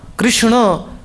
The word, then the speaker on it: Krishna: Krishna actually the dot below N means your tongue should touch the top of your pallet. It should go around Kish in the tongue will not touch the pallet. K comes from the tip of the tongue. But when you say Krishna your tongue should go roundish it should bounce.